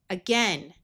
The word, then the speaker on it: again: AI usually has a long A sound, but this is one of the few words where it has a short E sound. Again, agape.